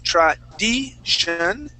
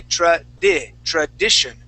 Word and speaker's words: tradition: Okay, so we're going to use a short I sound. So instead of saying tradition, okay, an E sound, tradi, we want to say tradition.